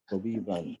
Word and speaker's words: طبيبا: So if you say tabiban, Okay. Tabiban is clear, and that's what you should say.